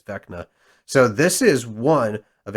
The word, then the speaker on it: Vecna: How's that pronounced? I believe it's Vecna.